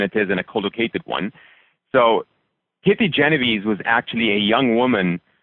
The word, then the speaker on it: Genovese: Do you know the pronunciation of her last name? Genovese.